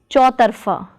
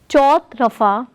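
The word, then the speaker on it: चौतरफ़ा: Another example is chautarfa meaning four directions. Note, it is not chautrafa but chautarfa.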